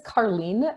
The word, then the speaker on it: Carleen: My name is Carleen, and it looks different. It sounds different than it's spelled. It's like a car leaning to the side.